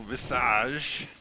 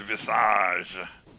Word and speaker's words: Visage: Visage is nice uh let's go with the French pronunciation and call it Visage oh we have fun